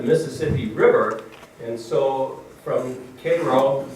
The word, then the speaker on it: Cairo: river and so from cairo that's how the people in illinois pronounce it cairo the southern tip of